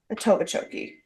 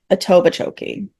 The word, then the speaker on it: Etobicoke: The Tobachoke. Etobicoke.